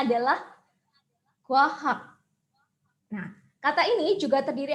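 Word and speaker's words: 과학: Dan suku kata yang kedua adalah hak. Dibaca kwahak.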